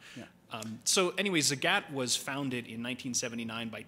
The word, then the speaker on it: Zagat: How many of you knew that Zagat is pronounced like the cat? Awesome. Yeah, they actually have that in a poster when you enter their office because nobody gets it right. It's always Zagat, or I thought it was the German pronunciation Zagat or something. But no, it's definitely Zagat.